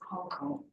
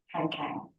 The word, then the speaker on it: Han Kang: Right, that's how it is pronounced in Korean, as I've been made to understand. So I'll continue using the Korean pronunciation as Hong Kong. Though in English it would be Han Kang, right?